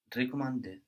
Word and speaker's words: recommander: Recommander. Recommander. So the E of the RE there at the beginning sounds like the E of je in this case, recommander.